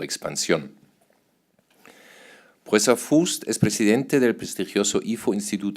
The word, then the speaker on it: Fuest: Se escribe con UE, que normalmente sería U, pero no se pronuncia así para los que no saben, es Fuest, como con acento en la U, y se pronuncia bien.